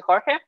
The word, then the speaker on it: Jorge: So I'll pronounce it well for everyone. My name is Jorge.